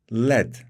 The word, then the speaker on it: lead: gridir ağırdır ve yumuşaktır led bunun telaffuzu ledir arkadaşlar lead olan aynı şekilde yazılıp lead olarak okunan kelimeyle karıştırmayalım led bir diğer kelimemiz